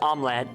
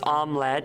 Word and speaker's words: omelette: I think in English it's just omlette but in English it's you know or in English it's omelette. In Dutch it's most people say omlet. Yeah. So, I guess in English it would be two two syllables.